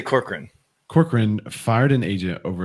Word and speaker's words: Corcoran: Isn't that how you say it? Some people are saying Cochran, but that doesn't look like it's Corcoran. I'd say Corcoran.